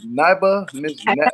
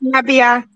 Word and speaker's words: Nabia: Miss Niba? It's Nabia.